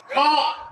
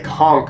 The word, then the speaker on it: Conch: You gotta say it right first, sir. Conch Republic. Conch. Okay, never mind. Apparently, it's the Conch Republic.